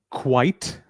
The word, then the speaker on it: quite: Similarly, quite. By the way, some people pronounce it as quiet or they interchange it.